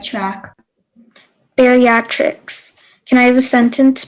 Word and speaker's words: bariatrics: and i'm in sixth grade your word is bariatrics bariatrics can i have the definition a branch